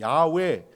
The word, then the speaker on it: 야훼: 아도나이, 주님이라는 것을 표현해서, 원래 아도나이는 주라는 뜻이거든요. 그걸 통해서 발음을 야훼라고 써놓고 아도나이라고 읽었어요. 그것마저도 헷갈릴까봐 모음 막 중간중간에 끼워 넣어가지고 여호와라는 말이 거기서 나왔어요. 이건 없는 말이에요. 그냥 지어낸 말이에요. 여호와라는 것은. 정확하게 말하면 야훼 하나님이에요.